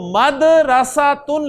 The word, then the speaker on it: मदरसा: तो मदरसातुन लफ्ज होता है, हम उसे भी पता नहीं क्या मदरसा के पता नहीं क्या क्या बोलते रहते हैं, असल प्रोनाउंसिएशन है जी मदरसा, मदरसा, मदरसातुल बनाती, लड़कियों का